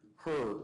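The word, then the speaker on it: Herr: mclin's decision uh in the her case I think that's how you pronounce it h e HR I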